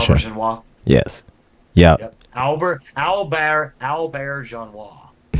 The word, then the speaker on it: Auberjonois: before he died, Rene Auberjonois. Is that how you pronounce his name? I'm not sure. Auberjonois.